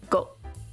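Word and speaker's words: 午: This is noon, which is pronounced go. And apparently that's the only reading. Very rare to have a kanji that only has one reading.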